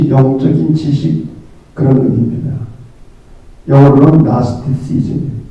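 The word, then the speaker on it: Gnosticism: 영어로는 나스티시즘, G자는 발음을 하지 않아요. 나스티시즘.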